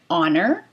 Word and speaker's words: honour: So this is honor. Oh, it's an honor to meet you. That's why we use the article an before honor, because we're starting it with a vowel sound.